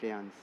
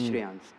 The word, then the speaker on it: Shreyans: There is no Y or there is no H, but the pronunciation remains the same. Little louder. Yeah. But the pronunciation remains the same as Shreyans.